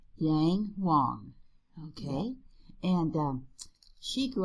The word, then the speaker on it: Yang Huang: Well, you want to pronounce her name? Yang Huang. Yang Huang.